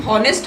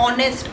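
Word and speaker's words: honest: क्योंकि इसमें first word silent होता है। हम हॉनेस्ट नहीं बोलते ना, हार नहीं बोलते ना, ओ से बोलते हैं ना, ऑनेस्ट, आर, इसलिए हम इसके आगे एन लगाते हैं।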